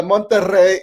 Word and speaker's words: Monterrey: And the Monterrey in Mexico is with two R's. Yeah. That's a triple roll of R's. You have to roll your R's.